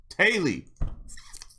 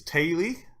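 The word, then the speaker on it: Teulu: Tiulu? Pronounced Tiulu. Oh my god. Family. Ah, okay. Hello. No, you take too long. Here we go. Taily. Welsh! Why are you so difficult? So, T-E-U-L-U is Taily.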